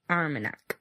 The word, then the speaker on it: Armagnac: I don't think they pronounce the G. Armagnac. That's better, yeah. Armagnac. Armagnac, yeah. Like, I'm pretty sure they don't really pronounce the G if it's before the N.